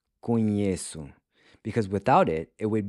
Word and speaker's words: conheço: With conheço, the regular C gets replaced by a cedilla. This is to preserve the soft C sound. Conheço. Because without it, it would be pronounced conheco.